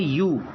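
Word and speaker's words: ewe: Next देखिए ई डब्ल्यू ई। इसका उच्चारण होता है यू। यह मादा भेड़ का बच्चा होता है। भेड़ के बच्चे को यू कहते हैं इंग्लिश में। और ये ई डब्ल्यू ई इसका उच्चारण है यू।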